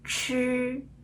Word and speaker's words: 吃: 轻的点一下，知、吃、诗，知、吃、诗。